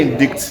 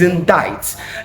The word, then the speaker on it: indict: This say indict. No, it's indict.